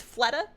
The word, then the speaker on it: Fleta: His name is Fleta, after an Overwatch player on my favorite team. And also because it rhymes with betta.